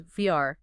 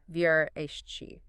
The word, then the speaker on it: Versace: The preferred pronunciation, and the one that's closer to the native Italian, is Vrsace, not the common anglicized version, Vrsace.